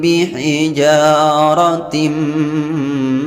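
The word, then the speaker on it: بِحِجَارَةٍ: Selanjutnya di sini ada huruf alif diawali baris fathah pada huruf jim. Hukum bacaan matabi'i dipanjangkan 2 harakat.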